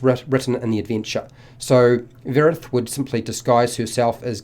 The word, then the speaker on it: Vyerith: I believe it's pronounced vyerith with the Y being silent.